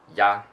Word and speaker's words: 呀: But yeah, you can also say 你好呀, ya, ya, ya. Ya is Y and A conjugation, and it pronounces at the first tone.